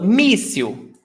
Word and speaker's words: míssil: So, míssil, the stressed syllable is before last. So, you've got this syllable and this syllable. So, míssil, míssil, míssil.